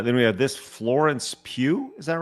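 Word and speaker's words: Pugh: Uh, then we have this Florence Pew. Is that right? That's how you say her name. No, no, no. Not her. Not her. Not her. Okay. These are all these are all suggestions. Pew.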